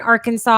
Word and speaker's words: Arkansas: Can't even spell it the way it sounds. Arkansas.